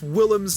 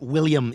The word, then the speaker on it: Willem: Now, if only Joe could learn to pronounce Willem's name correctly. Yeah, I just love William Dafoe. It's not William, it's Willem. Yeah, that's what I said, William.